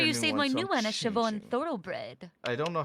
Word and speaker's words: Siobhan: there be an educational class on how to pronounce Shon okay so uh in that case I'll see